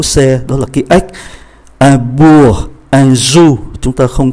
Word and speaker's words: bourg: Ký tự kế tiếp là ký tự G, un bourg, chúng ta phát âm từ B, O, U tới E là chấm dứt, không phát âm ký tự G.